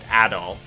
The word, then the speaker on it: Adol: doll is um not how his name is pronounced it's adol for this character here uh but the other